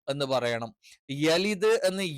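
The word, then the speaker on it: يلد: ആയിട്ട് ലം എന്ന് പറയണം യലിദ് എന്ന് യ എന്ന് തന്നെ പറയണം യെ എന്ന് ഉച്ചരിക്കാൻ പാടില്ല കാരണം അങ്ങനെ ഒരു ഉച്ചാരണം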